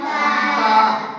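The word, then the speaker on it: تاء: তা। এর উচ্চারণ কোথা থেকে হবে? জিহ্বা এবং উপরের তালু। কোথায়? জিহ্বা আর উপরের তালু। দেখো উপরের তালু লাগাও, জিহ্বাটা ছাড়ো। তা।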